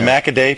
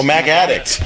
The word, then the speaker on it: MacAddict: So MacAday people, MacAddict forums. Mac Addict. Oh, MacAddict. I can't pronounce.